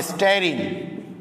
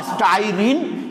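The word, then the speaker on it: styrene: তাহলে এই যৌগটার নাম হবে ভিনাইল বেনজিন, বা পুরোটার একটা বাণিজ্যিক নাম আছে স্টেরিন। স্টেরিন, স্টেরিন বা স্টাইরিন, যেটাই উচ্চারণ করো না কেন একই।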